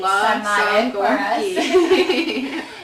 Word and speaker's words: sarmale: It's love sarmale for us.